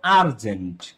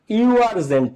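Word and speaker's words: urgent: ফারস্টে কি উচ্চারিত হইছে শুরুতে ইউ আবার তুমি উচ্চারণ করো আর্জেন্ট কি আরজেন্ট দেখ এই জায়গাটাতে সবাই খেয়াল করো।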